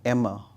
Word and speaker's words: Amer: uh comedian Muhammad uh Emmer um as he says I don't know it's Amar or Emma but um based on his pron pronunciation it's Emma so there is two